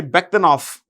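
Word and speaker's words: Bektenov: So, this V in the end of a word is pronounced with an F. Usually in the Central Asian bhashas, including plus Russian, the V in the end of a word is pronounced with an F. Okay. So, when you say Bakhtanov, it's right actually. Don't worry. Bakhtanov is fine for us.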